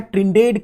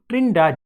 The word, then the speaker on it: Trindade: Actually लिखा है ट्रिनिडेड करके, पर actual Portuguese pronunciation is island of ट्रिनिडाद।